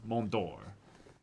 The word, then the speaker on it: Mont d'Or: the T is silent. It's a French thing. So, Mont d'Or.